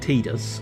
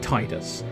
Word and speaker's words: Tidus: malice caliber despite the fact that it's actually pronounced tedious according to Square Enix I pronounce it Titus for reasons that you know tied because he's